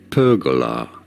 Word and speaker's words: pergola: normally said as perola with a stress on the first syllable pergola perola in American English